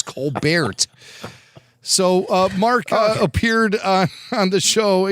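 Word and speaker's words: Colbert: He He doesn't know how to even pronounce his own last name properly. It's Cobert.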